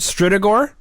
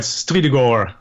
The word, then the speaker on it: Strydegor: to say this flow is it stridagore yes that's right stridogor beautiful you say it